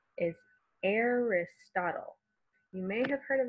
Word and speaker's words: Aristotle: So that first A is controlled by the R. The I is a short I sound. Arist, ot, short O. And then L-E suffix at the end says all.